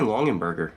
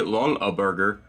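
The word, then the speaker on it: Longaberger: burger incorrectly or yes incorrectly because you there's no two ends in there but i like saying longan burger i don't know it sounds better and it flows off the tongue but we got a long a burger pottery woven traditional sugar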